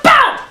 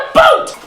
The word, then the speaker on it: about: socially polite freaks it's about a b o u t not a o o t stop saying a boot this is a boot